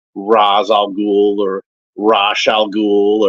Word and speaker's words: Ra's al: a lot of time I hear a lot of variations on how the name is pronounced it's raal gou or rash shal